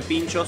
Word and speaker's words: pintxos: Fíjense cómo se escribe pinchos con la X en vez de la CH.